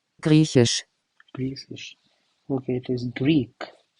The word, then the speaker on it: Griechisch: Then Greenland would be Grisisch. I don't know, this is like a tongue twister, all these languages. Grisisch. Let's see how it is pronounced. Griechisch.